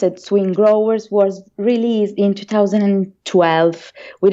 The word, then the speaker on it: SwinGrowers: And the first album, pronounced SwinGrowers, was released in 2012 with our English label Freshly Squeezed Music.